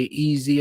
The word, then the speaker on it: Eze: I've been saying Eze, some people say Easy, and I'm like, you're saying his name wrong. He even said his name sounded more like Easy when he said it.